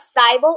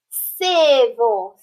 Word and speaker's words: civil: read this word cyborg no that's not cybel it's civil civil all right let's look